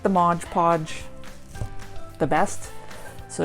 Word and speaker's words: Mod Podge: It's Mod Podge. I guess it's just easier to rhyme it. So if you were shaking your head if I said Mod Podge, I know the proper way to say it.